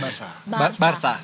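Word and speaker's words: Barça: saya Sunda Wili jengsemping bukan Barca bacanya Barsa Barca Barcelona eh berarti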